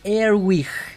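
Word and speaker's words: Earwig: Es Erwig. Erwig. Erwig, como oreja y wig. En inglés.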